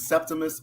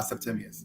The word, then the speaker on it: Septimius: or Roman, it was Septimus or Septimius. So I accept both of them. Yeah, but I go by Septimius.